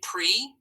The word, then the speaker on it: pre: Remember, they have that long vowel sound because they're open syllables. Everyone say pre.